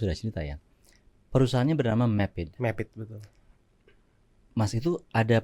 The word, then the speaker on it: MAPID: Jadi Mapit itu sebenarnya branding aja. Gitu. Map ID. Kalau saya kadang-kadang mikir bukan orang itu bacanya.